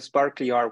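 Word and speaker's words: sparklyr: go through today is the sparkly your way and that's how you pronounce sparkly R uh it's kind of like a play on words of spark D player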